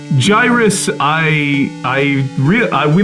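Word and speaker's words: Gyruss: yeah copycat yeah but gyrus uh that's how you pronounce it right not gyrus correct gyrus I I really I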